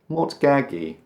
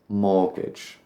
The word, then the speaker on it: mortgage: Mortgage. Mortgaggy. None of those are right. Mortgage. I suppose it must come from the French word for death, which is what a mortgage feels like. Mort. But we don't pronounce the T, and the end just becomes a jumbled sound.